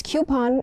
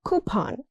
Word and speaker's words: coupon: Coupon, not coupon. It's coupon in the US or coupon in the UK.